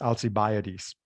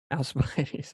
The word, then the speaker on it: Alcibiades: The way it's usually pronounced in English is Alcibiades. Alcibiades.